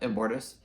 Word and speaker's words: Immortus: Yep, Immortus, who is Kang in some history, or I'm not even going to try to explain it because I don't really quite know.